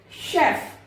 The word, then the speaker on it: chef: तो अलग टाइप से वहां पर आर को प्रोनाउंस किया जाता है। इंटरेस्ट है तो आप उसको सीख सकते हैं। शेफ, CHEF, शेफ।